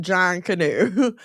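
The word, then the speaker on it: Junkanoo: It's pronounced John Canoe.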